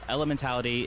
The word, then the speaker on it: Elementality: that I'll be like you know elementality is like how you say it if you call